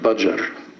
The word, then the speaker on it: Badger: called Badger which Guru he didn't pronounce it like we do bajer he said like bajer but then it turned into braa braa instead of badar